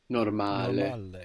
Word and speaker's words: normale: So to get normal in Italian, we will say normale. Normale. Good. So we have the accent on the second last syllable, no? On the A, normale. And the vowels, we're pronouncing them clearly, not like English when we say normal.